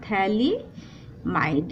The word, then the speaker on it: phthalimide: पर इसको कहते थैलिडोमाइड इसमें पीएचसी क्या होता है हमारा पीएस साइलेंट और थैलिडोमाइड इसको कहते थे लिमिट